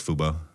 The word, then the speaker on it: Fubo: Oh, it it is Fubo.